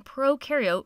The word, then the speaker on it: prokaryote: And to help me remember some more differences in this next part, I like to remember that pro in prokaryote rhymes with no, and you in eukaryote rhymes with do.